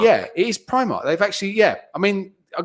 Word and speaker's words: Primark: Yeah, it's not Primark. It's Primark. Yeah, it is Primark.